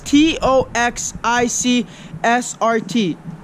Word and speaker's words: TOXICSRT: If you guys don't already follow me, it is TOXICSRT. Stands for toxic SRT. That's how it's pronounced.